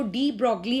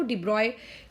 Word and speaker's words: de Broglie: हम अपनी Indian language में उसको डी ब्रॉगली हाइपोथेसिस कहते हैं, बट बेसिकली उसका जो प्रोनाउंसिएशन अगर देखोगे तो डी ब्रॉय करके वो है।